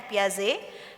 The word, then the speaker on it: Piaget: seorang psikolog perkembangan bernama Jen paz gitu ya memang tulisannya Piaget tapi dibacanya piaze dia dari Swiss eh